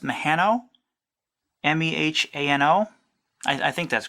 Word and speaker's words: Mehano: Correct me if I'm wrong, but I think it's pronounced Mehano.